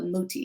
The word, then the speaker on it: Muti: So you're set to star in the indie thriller Muti. Am I pronouncing it correctly? Is it Muti? Oh, Muti, yes.